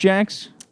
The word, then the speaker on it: Jacques: Jax hey guys is it Jax or jaquez it's JX okay pronounced Jax yeah it's it's the a French name that